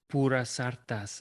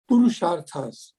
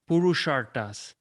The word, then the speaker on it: Purusharthas: But first, let's go to wrap our session up to Pura Sartas. And please pronounce the name correctly for me so I can pronounce it correctly in chapter 21.